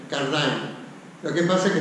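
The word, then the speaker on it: Cardijn: voy a pronunciar como yo creo que se pronuncia, Cardin. Lo que pasa es que todo el mundo la pronuncia la francesa, Cardin, pero no es francés, no es valón, es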